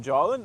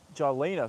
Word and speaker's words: Jalina: Jalen only. Jalina. Sorry, I've mispronounced your name before.